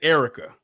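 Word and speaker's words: Airwercka: and her name was Erica but how she spelled it oh it was a i r w e r c k a air rekka but she pronounces it Erica it's like wait a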